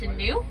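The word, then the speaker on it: gnu: So wilderbees are known by a second name and that's new, but that's spelled G N U and that comes from the grunting sounds that they make.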